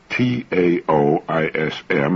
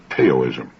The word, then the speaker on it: Taoism: Now, that's spelled Taoism and often mispronounced Taoism. Taoism.